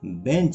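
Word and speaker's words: bench: एंड बेंचेज, और बेंच पर। कभी कभी आप लोग ब्रेंच कहते हैं जो गलत होता है, सही इसका प्रोनाउंसिएशन बेंच होता है।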